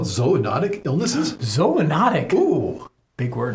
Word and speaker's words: zoonotic: ZO for animals and ology for study of. So that's why we pronounce it zoonotic, not zoonotic.